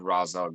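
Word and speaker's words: Ra's: Neil Adams, the guy who created Razal Ghoul, has said multiple times at conventions that they just pronounce Raz.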